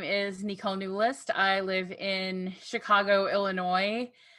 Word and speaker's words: Neulist: that probably wrong nicole how do you say your last name new list oh so i did say it pretty close so all right all